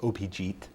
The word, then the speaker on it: Abhijit: abhijit okay uh an abhijit is a bengali name that's the american pronunciation of the of the name it's actually pronounced opijit okay in bengali and um uh so